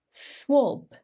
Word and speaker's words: swab: to pronounce it well it is written in a funny way with an a but it's actually pronounced like an o swab let's listen swab swab did he hear the sound it's actually like the word clock or clock swab swab or swab it's not an a sound even though we